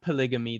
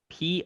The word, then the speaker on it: polygyny: It's not polygamy. That's the thing. It's Polygny. So polygyny with a N and not with a vowel.